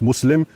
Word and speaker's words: Muslim: you know I unfortunately I always end up pronouncing things like an American it's not Islam um it's Islam and it's not mus it's not Muslim it's Muslim and the two words are